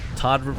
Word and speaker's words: ToD: ToD rhymes with God.